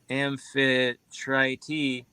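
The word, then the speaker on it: Amphitrite: who was a c nymph Infiltrate The Goddess pronounced as amphi try t uh was one of the 50 cnips born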